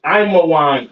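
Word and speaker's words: עמון: All right, Ammon, which is Imawan in the Hebrew.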